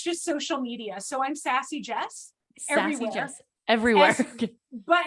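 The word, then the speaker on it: SassyJes: So I'm Sassy Jes everywhere. Jess everywhere. But it's spelled funny.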